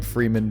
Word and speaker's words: Fremen: called Fremen. I called them Freemen, but however you want to pronounce it, that's fine.